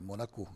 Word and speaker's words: Monaco: par perce e eu brinquei com com Monaco porque é como se pronuncia em francês né e é Monaco fo Então mas a